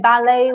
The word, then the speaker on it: ballet: and no it goes the way I say ballet we do not pronounce the teeth probably Bruno and Leone is